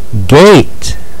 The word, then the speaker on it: gate: this sound is a but buddy e over here is silent he's just there to encourage Mr a to say his name like in eight Brave and gate this sound is a